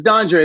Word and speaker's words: Dondre: It's Dawn and Dre. It's not very difficult.